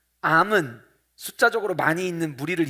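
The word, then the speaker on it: עם: 단어는 한번 따라해 보실까요 암 암 히브리어로 우리 안암 걸렸어 라고 해 됐으니까 암처럼 발음이 암 이에요 히브리어로 암 이라는 단어를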